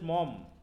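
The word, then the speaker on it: Maugham: তারপর হচ্ছে আমরা চলে যাব হচ্ছে উইলিয়াম সমারসেট মম, এই যে মোঘাম যেটা দেওয়া আছে, মম উচ্চারণ।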